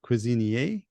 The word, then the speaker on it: Cuisinier: Again, I'm gonna I call him Cuisinier, but just before we started recording, he corrected me that it's should be in French, so it's Cuisinier, and that's.